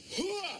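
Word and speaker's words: hooah: How do you say it? Hoo-ah! Yeah, it's guttural.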